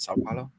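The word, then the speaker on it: São Paulo: it sa Pao how do you say it sa Paulo sa Pao I believe yeah sa Paulo Brazil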